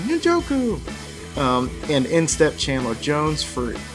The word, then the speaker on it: Njoku: Njoku!